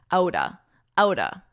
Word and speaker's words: out of: Notice the pronunciation of this because we really combine these two words to sound like outa, outa, out of the blue, out of the blue.